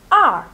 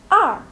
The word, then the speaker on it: 二: Il se prononce R. R.